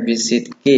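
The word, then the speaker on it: بِالصِّدْقِ: Rasulullah Shallallahu Alaihi Wasallam bersabda, "Alaikum bisidqi, fa inna sidqa yahdi ilal birri, wa innal birra yahdi ilal jannah." Alaikum bisidqi ya. Ini bacanya bisidqi ya. Mohon maaf Pak Fuad salah menulis harakatnya.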